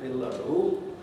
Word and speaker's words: below: Placing it before the L of below is making it do two jobs. First of all, it's marking where the stress is, but it's also telling you where the syllable division is. That sequence of sounds could be arranged in a different way. It could be Bill and O.